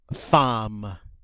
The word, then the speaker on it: femme: Okay, this one's a little unusual because by all rights it should be pronounced femme, but it's an exception to the pronunciation rules. We don't say femme, we say femme.